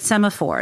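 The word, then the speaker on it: Semafor: like so do you now that you're at semaphore is that how you pronounce the name yes is it do you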